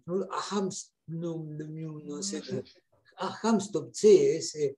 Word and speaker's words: Knut Hamsun: Recuerdo haber leído la novela Hambre de Knut, que es difícil de pronunciar, Knut Hamsun, no sé, Hamstup, sí, ese.